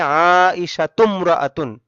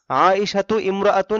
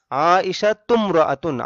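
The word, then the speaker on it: عائشةُ امرأةٌ: যদি বলি আয়েশা একজন মহিলা, তাহলে হবে আইশাতুমরাআতুন। আইশাতু ইমরাআতুন এটা ভুল বলা হবে। আইশাতুমরাআতুন, আইশাতু এই তু মিমকে ধরবে।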